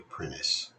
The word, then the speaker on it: Prentice: I am Prentice. Of course, the old enunciation of the word does not sound the T.